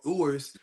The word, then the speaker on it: Ewers: But I don't think Ewers is that much better.